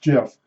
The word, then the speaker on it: GIF: from um America online it's G GF but pronounced GIF and those became uh